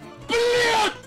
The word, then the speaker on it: блядь: It's not блядь with a T, it's блядь with a D.